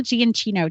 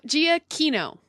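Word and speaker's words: Giacchino: to say it again Michael gianino did I say it right no Gia Kino Gia Kino with think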